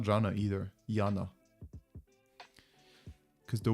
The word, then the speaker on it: Jana: Yana. Because the Y in Eastern Europe is pronounced Y.